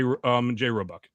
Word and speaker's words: Roebuck: Did I pronounce that right, Roebuck? Yeah, you got it right, Roebuck.